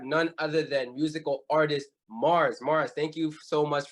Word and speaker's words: MXRS: the name right like your name Mars is not spelled like m-a-r-s right it's that it's an X there as well is that intentional where's